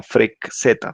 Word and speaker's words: freqz: Que se generan a partir de una función en MATLAB que se llama FREQ-Z. Se escribe FREQZ, ¿sí?